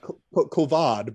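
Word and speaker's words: Kavad: at the time whose name believe it or not is is kovid uh it's more like kovad but either way you know you'll frequently hear it just pronounce coven um so they're they're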